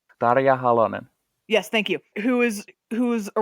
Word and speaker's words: Tarja Halonen: like our president," and I'm gonna get this name wrong. Tarja Halonen? Tarja Halonen.